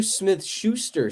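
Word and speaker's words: Smith-Schuster: next okay um interesting start I'm a JuJu Smith Schuster Stan oh you said it right oh I'm always going to say Smith shoe story he's a former stealer um they didn't play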